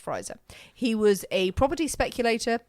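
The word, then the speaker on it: Frizer: Marlo you have Ingram friser frer I think it's pronounced friser he was a property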